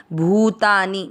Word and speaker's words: भूतानि: चापी भू की मात्रा बड़ी थोड़ा सा उच्चारण में इसको लंबा खींचते हुए बोलना है। भूतानी मतलब अधिक समय देना है आपको इसका उच्चारण में।